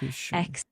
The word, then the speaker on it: execution: Of course, the word is pronounced as execution with the emphasis on the second syllable. Execution.